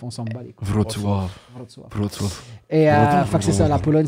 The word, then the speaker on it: Wrocław: C'est ça la vraie prononciation, c'est ce que t'as dit. Ouais. Toi, tu disais quoi? Au début, je disais Wrocław. Ouais, c'est ça. Parce que ça s'écrit Wrocław, comme sinon on le disait comme ça, mais c'est. Là, maintenant, je dis Wrocław, mais c'est pas la bonne façon non plus.